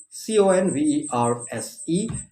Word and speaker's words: converse: these words and remember them so that you pronounce them correctly yourself okay here we are the first word c-o-n-v-e-r-s-e c o n v e r s e is what is it converse converse basically means